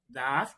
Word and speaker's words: does: H que le sigue a una vocal se pronuncia como una d suavecita dada, pero en este caso se le pone s does exercise everyday.